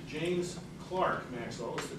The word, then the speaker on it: Clerk: note on pronunciation james clark maxwell is the correct pronunciation as mike correctly pronounced it american english pronunciation would be clerk but the correct british pronunciation is clark and clark is not